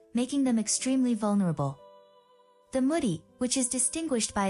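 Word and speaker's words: Mudi: quite vulnerable number five Moody pronounced moody this Hungarian born breed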